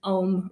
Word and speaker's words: Ogham: So that is ancient Ogham writing. So the Ogham is spelled Ogham, but it's a couple of the letters are silent.